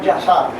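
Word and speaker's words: Yashar: Él no pronuncia bien ahí, pero el libro realmente como se llama es Yazar.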